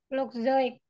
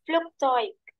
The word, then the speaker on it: Flugzeug: Flugzeug. Ya, EU kan dibacanya apa? Oh iya, oi. Oh iya. Das Flugzeug.